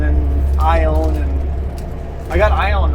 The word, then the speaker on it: Ione: We're heading into Metaline Falls and Metaline and then Ione, and I got Ione right for sure.